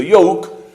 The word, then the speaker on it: yoke: que es yoke eh la primera Pues suena como una y prácticamente y se escribe con j y la otra en cambio Pues suena como una I como si fuera una I latina Al principio yoke que es la que significa yugo entonces Imagínate cuando está